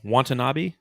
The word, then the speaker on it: Watanabe: Watanabe?